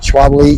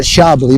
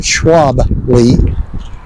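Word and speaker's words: Schwalbe: I think that's how you pronounce it. Schwabi. Schwabi. Yeah, not Shabbi, but Schwaby.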